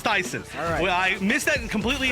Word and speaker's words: Tayson: just seeing ton saying it's pronounced Tyson so it's not tyon it's Tyson well I missed that